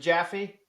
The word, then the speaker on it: Jaffe: And did I get that pronunciation right? Is it Jaffy?